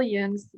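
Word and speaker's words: Jung's: do you pronounce it it's a union it's like so it's carl yoon's ideas which are complicated and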